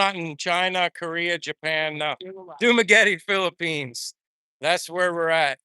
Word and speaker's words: Dumaguete: It's Dumaguete. I've been so wrong in pronouncing Dumaguete.